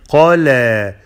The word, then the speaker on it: قلى: Qaf is heavy and then lam is light. Qala, qala.